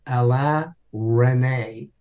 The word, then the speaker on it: Alain Resnais: So anyway, because of the X-Files, this incredible man, brilliant French director, his name it's pronounced Alain Resnais, and it's spelled Alain Resnais.